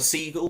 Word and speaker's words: Seigal: rhyming as i said my name is siegel please visit my website that's www dot